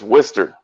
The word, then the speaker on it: Worcester: it looks like it's it look like it's spelled Worchester but it's Worcester yeah Worcester yeah yeah